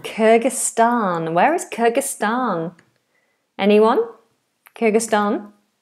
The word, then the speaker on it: Kyrgyzstan: Let's have a look at the pronunciation for this one. Kyrgyzstan. Kyrgyzstan.